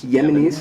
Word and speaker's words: Yemenis: you say the Yemeni Yemenis like everybody like Yemen is that what they're calling the Yemenis yeah because it rhymes with enemies I've even thought about